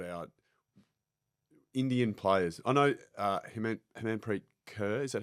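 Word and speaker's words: Harmanpreet Kaur: I know Himanpreet Kaur, is that how you pronounce it? Himanpreet Kaur, yeah.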